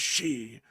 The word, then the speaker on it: Xi: Outside of that, I did not know that Xi is pronounced as she, which sounds almost the same as how I say it.